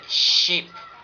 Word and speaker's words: sheep: And the next, it's like you have to pronounce it very close to Russian she. She. Russian she. It will be sheep.